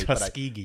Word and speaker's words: Tuskegee: Tuskegee.